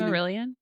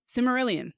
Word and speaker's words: Silmarillion: I've never read the I can never pronounce the name. Cimmerillion? Silmarillion.